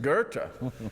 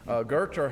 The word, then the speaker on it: Goethe: Pronounce Goethe. Goethe. Goethe has a lot of great leadership quotes, and mine is so Scottish it hurts.